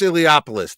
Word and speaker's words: Iliopoulos: AEK name right Chris Chris iliopoulos that's how you say it heliopolis he's